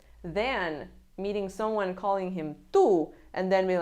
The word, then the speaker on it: tú: Pronouns have accent marks. Pay attention to the accent marks. "Tú", there's an accent on the U, "Tú". If there's no accent, it means that it's a possessive adjective.